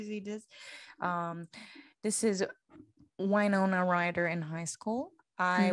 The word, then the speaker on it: Winona: do you say her name why nona white winona winona ryder writer she's man she is so